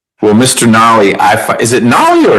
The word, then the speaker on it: Nolly: Nolly, is it Nolly or Noli? Nolly, N-O-L-L-Y. And I know how it's spelled.